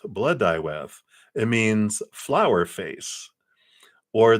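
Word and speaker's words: Blodeuwedd: the bloed whatever that oh it's pronounced BL dwth blood dth it means flower face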